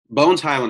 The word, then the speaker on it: Bones Hyland: why isn't it close go for it no bones highland is it that's that's how you say it